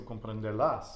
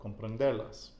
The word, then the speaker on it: comprenderlas: So looking at how grammar works in Spanish, technically speaking, we're supposed to put the emphasis on that final syllable, right? So comprenderlas, but we don't because of the nose rule. We know there's an S on the end, so now the emphasis comes on the penultimate syllable, comprenderlas.